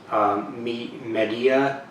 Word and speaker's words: Medea: cleaning product, the Iwata Media, Media. It's not Media. It's not spelled MEDIA. It's spelled MEDEA.